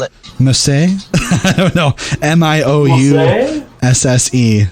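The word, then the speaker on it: Miousse: Mousse. So, Meows, but with a French accent is how you say her last name.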